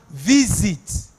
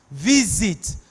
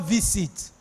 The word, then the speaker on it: visit: that thing is pronounced visit is z you're pronouncing the Zed sound visit not visit that thing is pronounced